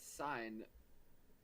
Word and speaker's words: sine: Well, that's pronounced sign.